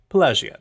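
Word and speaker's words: Pelagiad: we'll run up to pagad payad pag I like the soft G version pagad anyways we head right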